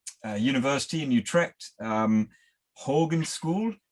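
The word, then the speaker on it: Hogeschool: students from um uh university in utrecht um hogan school how do you pronounce it yocum in in that it's called the hochus hall it's a university lifestyle well um if the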